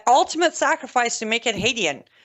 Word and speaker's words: Hadian: He has made the ultimate sacrifice to make it Hadian. It's Hadian, the correct pronunciation.